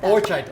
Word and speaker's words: Hor-chai-ta: Horchata, or it should be horchata.